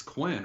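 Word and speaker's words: Quynh: It's spelled Quyynh. I mean, they pronounce it almost like it was Quinn, right?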